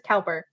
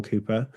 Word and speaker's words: Cowper: Sense and Sensibility movie, they pronounce his name as Cowper. Is this Yeah. a regional thing, or did they make a mistake? Yes, so Cooper, Cowper, everybody gets confused about that.